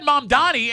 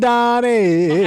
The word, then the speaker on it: Mamdani: I just said Mamdani, and you kept saying it wrong. Mandani.